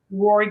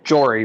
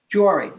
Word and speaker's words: Jory: william goffin in favor rory gutzman in favor did i pronounce your name correctly uh jory with a j jory okay you'll learn i